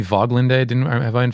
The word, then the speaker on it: Woglinde: the game please also wouldn't it probably be voglinda I didn't have I